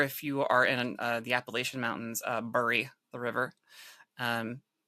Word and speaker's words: Appalachian: The correct way to pronounce it is Appalachian.